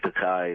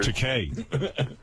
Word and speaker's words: Takei: But I'm getting tired of this George Takei impersonator. Takei? No, actually, it's Takei.